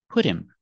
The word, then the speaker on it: put him: on a diet pronunciation put him put him his doctor put him on a diet we see the H is silent and the T sounds like a fast D because it's between vowels phonetically put him put him